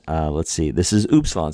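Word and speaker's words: upsilon: like a pronounced like an English T and oops Salon is pronoun U it's pronounced like the ouu in group O oops Salon oops Salon there's we have another vowel so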